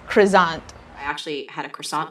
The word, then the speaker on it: croissant: french is croissant again crew crew zoned you make that kind of the z sound but not totally because it has two ss again that's croissant i actually had a